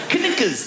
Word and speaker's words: knuckles: Like all those words that should begin with N but have a K. Of all the letters, why would a K BE SILENT? KNUCKLES.